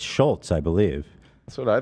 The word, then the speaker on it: Schulz: name after the Schultz they're saying his name wrong she was saying Shoals yeah no it's Schultz I believe that's what